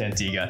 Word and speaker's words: Antigua: sandals grand antigua oh and yes it is pronounced antigua hi i'm madison from reliant destinations and my